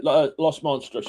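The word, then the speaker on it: Los Monstruos: Yeah, Los Monstrous.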